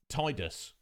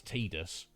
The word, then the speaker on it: Tidus: exactly yeah indeed post i always called him uh tidus uh i just assumed that was the pronunciation when i played the game back in the day it's only since just before we started this um play through of uh the game that it was brought to my attention that the correct actual pronunciation is tidus um there seems to